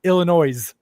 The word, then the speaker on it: Illinois: But it's not Illinois. There's no Even though the S is on there. Yeah. It's the S is silent.